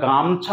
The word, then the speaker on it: গামছা: এবার এখানে যেহেতু 3টে শব্দ, যখন আমরা গামছা উচ্চারণ করছি তখন কি 3টে সিলেবেল আর থাকছে না, গামছা, মানে গামছা শব্দটি কিন্তু আমরা 3 ভাগে ভাগ করতে পারছি না, গামছা, তাহলে দুটো, তাহলে ছিল 3টে হলো দুটো, তাহলে 3 মাত্রার শব্দটি